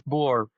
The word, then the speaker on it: Boer: on what part of the country you're from. Okay. In the South, it's Florida. boer. Yeah. In the South, it's boer.